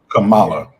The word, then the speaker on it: Kamala: so it's comma and how I want people to remember is it's comma comma comma comma you remember that song